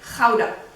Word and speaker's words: Gouda: Donc, selon les Néerlandais, il faut le prononcer Gouda.